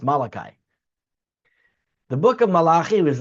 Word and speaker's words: Malachi: I believe in English is pronounced Malachi.